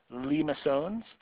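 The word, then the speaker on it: limaçon: So that's how you pronounce this word right here, limosones.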